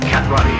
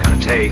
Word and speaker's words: karate: Cat Roddy, as you call it, correctly pronounced karate, is a defensive form.